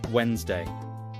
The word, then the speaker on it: Wednesday: People read it as Wednesday. But we say Wednesday. Very different from spelling.